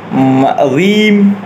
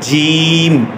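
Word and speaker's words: ج: পঞ্চম অক্ষরটি হবে জিম, জিম উচ্চারণ করতে হবে সঠিকভাবে, অনেকে জিম উচ্চারণ করতে গিয়ে অনেকে জিম বলে দেয়, অনেকেই জিম, অনেকেই রিম, আরও বিভিন্ন আকারের উচ্চারণ করে থাকে যেটি ভুল হবে, সঠিক উচ্চারণ হচ্ছে জিম, জিম, আমি যেভাবে বলছি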